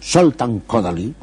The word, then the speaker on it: Kodály Zoltán: Yo había estado en Hungría, en Budapest, había ido al instituto de Kodály Zoltán, o como dicen los húngaros que pronuncian primero el apellido, Zoltán Kodály, era el maestro de Béla Bartók.